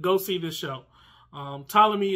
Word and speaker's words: Ptolemy: see this show um ptolemy is spelled with a p